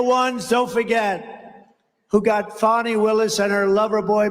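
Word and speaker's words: Fani: destroyed because of fonny f a ni I fny you have to pronounce it fonnie it's called Fanny you have to pronounce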